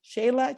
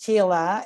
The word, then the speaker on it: Sheila: lost but it's okay but it's written shayla but the pronunciation is sheila and she's from the